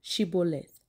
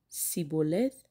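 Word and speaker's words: shibboleth: they said all right say shibelo shiboleth if he said siboleth because he could not pronounce the word correctly the insist the man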